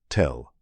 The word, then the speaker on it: tell: Archaeologists have a word they use to describe these kinds of buried cities, tell or in its Arabic Hebrew pronunciation, tell.